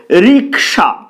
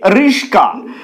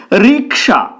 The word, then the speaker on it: রিক্সা: না সঠিক শব্দ হলো রিক্সা সেটাকে অনেকে বলে রিস্কা রিক্সা এখানে ক টা আগে রয়েছে স পরে রয়েছে কিন্তু উচ্চারিত হচ্ছে রিস্কা এটা অনেকে করে সকলে